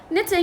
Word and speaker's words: knitting: حتى knitting بما أنه الكي لا تلفظ إذا يجي بعدها N، فش راح ألفظها؟ راح ألفظها knitting.